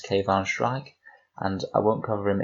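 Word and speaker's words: Kayvaan Shrike: the one unit datasheet in this book is pronounced cave on Schrag and I won't cover him in too much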